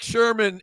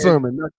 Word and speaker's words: Sermon: Once again, Eric Sherman and EPMD came out there. It is Sermon, not Sherman. It is not like Richard Sherman. It's like sermon, like a pastor giving you a sermon.